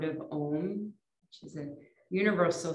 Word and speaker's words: Om: If you are comfortable joining in, it's actually pronounced ah, ooh, and then putting the lips together for that final sound.